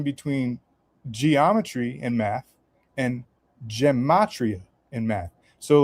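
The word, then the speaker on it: gematria: predictions, but he was explaining this stuff called gamatria. And then I looked into that and I found out that this is actually a real thing, but it's pronounced geatria.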